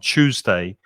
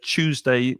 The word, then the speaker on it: Tuesday: from yeah for example there are two very different pronunciations with tuesday i'm from london the south of england so i pronounce it uh the same as monica with a ch sound tuesday but you may hear tuesday with a hard t sound tuesday tuesday and with a